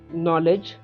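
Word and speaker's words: knowledge: Answer night, K, नॉलेज, के, नॉट, K, psychology, P, and pneumonia, P, लिम, बी, डम, बी, comb, B, honest, H, hour, H, and school, H.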